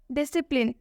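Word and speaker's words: discipline: डिसिप्लिन, डिसिप्लिन में भी एस के बाद से सी आया हुआ है, इसलिए इसमें सी साइलेंट होगा। डिसिप्लिन, डिसिप्लिन का मतलब होता है शिष्य।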